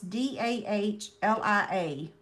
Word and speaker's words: dahlia: I could ask Google, hey Google, how do you pronounce D-A-H-L-I-A?